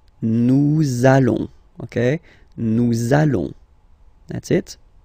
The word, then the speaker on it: nous allons: it does mean that you will have to pronounce this z sound, okay? Listen to me. Nous allons. Nous allons.